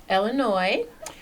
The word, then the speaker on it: Illinois: well I am from Illinois uh the S is silent for all of those who might be thinking otherwise and I grew up